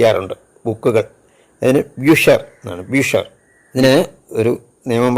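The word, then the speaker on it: Bücher: യു സി എച്ച് ഇ ആർ ഉണ്ട് ബുക്കുകൾ അതിന് ബ്യൂഷർ എന്നാണ് ബ്യൂഷർ ഇതിന് ഒരു നിയമം പറയുന്നത് ആ ഉവയോട് ചേർന്നാണ് സി എച്ച് വരുന്നതെങ്കിൽ അവിടെ ക ഉച്ചാരണമാണ് അതേസമയം ഇ എ ഓ ഉമ്മോട്ട് യു ഉമ്മിലോട്ട്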